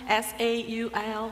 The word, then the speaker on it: Saul: sa was Saul I don't know the the pronunciation of the first king sa s a u l right Saul thank you so Saul was persecuting